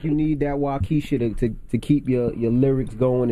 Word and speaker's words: Waukesha: Now you got a song on the album called Waukesha. Am I pronouncing it right?